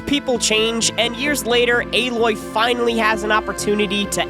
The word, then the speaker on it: Aloy: metal that's clever although for some reason everyone pronounces it aloy which kind of undo